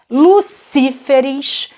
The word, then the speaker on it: lucíferes: Plural de Lúcifer, lucíferes.